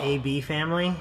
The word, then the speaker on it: Eh Bee Family: but I sort of in love with them a bee family yeah that's how you pronounce it I always go back to this